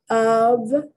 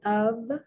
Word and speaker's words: of: Of, the F is pronounced like a V, of.